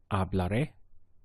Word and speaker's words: hablaré: You have to get used to including the full verb and then stressing these last points.